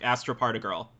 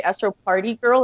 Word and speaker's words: astropartigirl: right usually people say astro party girl and i'm like oh it's like particle you know astroparticle and then match up with a girl right so thanks yes